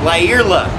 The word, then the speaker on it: Lyerla: I walked up and I said, because I've heard it pronounced all different ways. He says, "Lyerla."